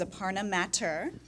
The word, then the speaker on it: Aparna Mathur: Okay, our next panelist is Aparna Mathur. Got it right? Yeah, absolutely. I'm big on pronunciations, being in television.